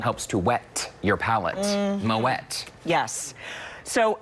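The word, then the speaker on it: Moët: Yes, and same thing with Moet. Moet. It's not Moet. No way, Moet. Because it has an umlaut. And it's a thing. Helps to wet your palate. Moet.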